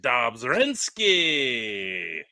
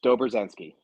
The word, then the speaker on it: Dobrzenski: the last name right how do you say your last name very close Dober zensi I I I will